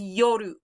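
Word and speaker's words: 夜: It's not ru, it's not lu, do. So this is yoru.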